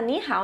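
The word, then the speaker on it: 你好: Na segunda aula a gente vai ver mais a pronúncia, tá? Mas, né? Para a curiosidade de vocês, né? Essa expressão se fala ni hao, esse é o ni de você, esse é o hao de bem, bom, né?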